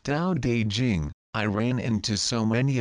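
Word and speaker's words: Tao Te Ching: Long ago, the first time I read the ancient Tao teaching pronounced Dao De Jing, I ran into so many apparent contradictions that I felt like I was going crosseyed with confusion.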